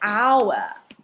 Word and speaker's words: hour: We say hour, pronounced like ow. So it sounds like ow. We don't pronounce the H.